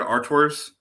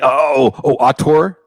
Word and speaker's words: auteur: How do you say the word arteurs? ARTEURS. Like basically like most video games are the result. Like it very rarely ever says directed by. Like, right. You mean auteur? Artur, yes. Auteur, yeah.